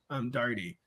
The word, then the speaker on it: Daugherty: My Ellis Island story, they knocked an O off of Daugherty, and then we pronounced it Daugherty.